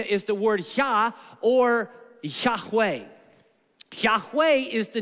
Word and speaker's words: Yahweh: love saying the word Yahweh because it sounds like breathe in and breathe out the thought of the ancients was that God when you say his name it's breathing in and breathing out that God is as close